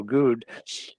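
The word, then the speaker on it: Goode: and um you know Virgil good as he pronounces it um uh great guy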